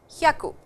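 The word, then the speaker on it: ひゃく: Please remember 100 is pronounced as yaku. Hyaku. A short sound. Ha. Haku. Okay.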